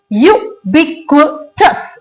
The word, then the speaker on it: ubiquitous: ये वर्ड है ubiquitous. इसको अ नहीं पढ़ना है, इसको यू ही पढ़ना है. तो इसके अंदर कितने सिलेबल्स हैं? इसके अंदर 4 सिलेबल्स हैं हमारे पास.